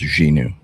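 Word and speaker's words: Xinu: It's pronounced Xenu.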